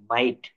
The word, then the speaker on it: might: MIGHT, মাইট। তো এখানে কি বলছে? IGH এর উচ্চারণে জি উচ্চারিত হবে না, IGH এর উচ্চারণে জি উচ্চারিত হবে না, সেই অংশটুকু উচ্চারণ হবে আই।